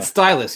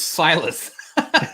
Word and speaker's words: Silas: Stylus, yes, but it's Silas.